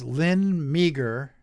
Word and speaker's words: Meagher: A quote-unquote Christian woman, her name is Lynn Meager. Okay, I'll spell that for you.